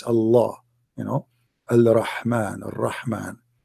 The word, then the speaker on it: Allah: It's just you have to say the L twice. Allah, you know, Al-Rahman, right?